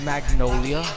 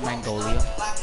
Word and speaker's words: Magnolia: It's Magnolia, not Mangolia. Triggered. I see the G and I just say it like that.